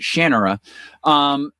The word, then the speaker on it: Shannara: like Terry Brooks with the Sword of Shannara, although he pronounces it Shannara, and the sword and sorcery side of things.